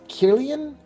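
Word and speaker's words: Kirlian: those who don't know what a is it killian oh a killian camera yes is it i don't know guys anyway it is spelled k-i-r-l-i-a-n it is a uh i did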